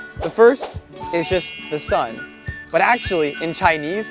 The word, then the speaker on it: Sun: The first is just the sun. But actually, in Chinese, it's Sun. But in Chinese, you would pronounce it as He.